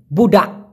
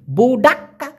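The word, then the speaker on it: budak: বানায় দিয়েন বুডা বুডা তবে আমি যেমন উচ্চারণ করতেছি বুডাক্কা এভাবে কিন্তু ওরা উচ্চারণ করে না ক যে যেহেতু ছোট করে উচ্চারণ করে কেমন জানি মনে হয় বুডা বুডা মানে একটা অনেস্বরের মত ধাক্কা দেয় বুড়া বুডা তো ক টা স্পষ্ট না হওয়ার কারণে অনেকে মনে করে বলতেছে বুডা যাই হোক আপনি যেটা মনে করেন সঠিক উচ্চারণ হবে বুড়া তো বুডা মানে হচ্ছে পোলাপান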